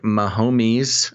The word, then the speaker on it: Mahomes: It will also be the first Super Bowl starring the two most recent Super Bowl winning quarterbacks, Patrick Mahomes and Tom Brady.